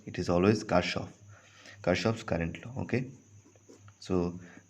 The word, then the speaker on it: Kirchhoff: this Kirchhoff's law Kirchhoff's law okay some people pronounce like tip chops law but it is actually cut off okay name is car shops so Kirchhoff's law